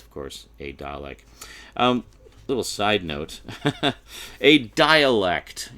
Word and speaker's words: Dalek: The dialects. Yeah, the dialects were really cool. Really? The dialects? Seriously? Like, come on. The word is Dalek. It's not difficult. You're adding syllables. You're making it more complicated.